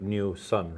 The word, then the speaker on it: NuSun: And it's pronounced like New Sun.